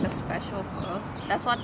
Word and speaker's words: pho: But then is this, okay, am I pronouncing it correctly? Pho?